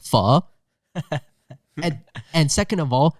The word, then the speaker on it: pho: in full I'm like first of all it's pronounced F and and second of